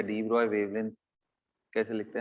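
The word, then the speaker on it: de Broglie: मुझे क्या चाहिए, I needed the डी ब्रॉय wavelength lambda डी of hydrogen, ratio of डी ब्रॉय wavelength, डी ब्रॉगली wavelength भी आप बोल सकते हो इसको, जनरली लोग यही प्रोनाउंस करते हैं।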